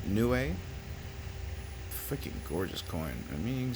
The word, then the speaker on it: Niue: If we look closely, we can see public seal of Niue, I believe is the pronunciation. Niue.